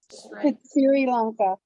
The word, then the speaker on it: Sri Lanka: How do you pronounce it? It's Sri Lanka.